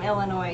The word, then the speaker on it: Illinois: If you're from Illinois, you say Illinois. Anybody I'm else not from pronounces the S.